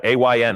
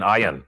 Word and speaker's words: Ayn: Fountainhead, Ayn Rand, yeah, A-Y-N, Ayn, sometimes mispronounced Ayn Rand, wrote the book The Virtues of Selfishness.